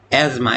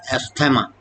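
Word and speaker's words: asthma: एज्मा। इसको अक्सर लोग गलत प्रोनाउंस करते हैं। This is नॉट एस्थेमा।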